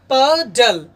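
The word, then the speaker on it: puddle: क्योंकि अभी तुरंत हम बताए हैं कि जब consonant plus you plus consonant का कॉम्बिनेशन होता है तब आप यू को अ पढ़ते हैं, इसलिए इसका उच्चारण होगा पडल पडल, नहीं कि पुडल।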